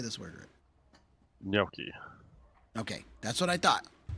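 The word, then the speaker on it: gnocchi: Noi. Okay. That's what I thought. Yeah. You said Yeah. So other people say Noki and I'm like I don't think that's it. Even though it looks like it.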